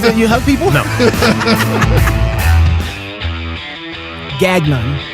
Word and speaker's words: Gagnon: you hug people no Gagnon Dr gagan I said it right okay stress on the first syllable yeah Dr Deadman if